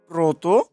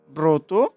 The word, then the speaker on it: ব্রত: বিশ্লেষণ, আদ্য অয়ের পরে যদি র ফেলা থাকে তাহলে অটি ওর মতো উচ্চারণ হবে। উদাহরণ, যেমন প্রভাত, ব্রত, স্রোত। প্রভাত, ব্রত, স্রোত।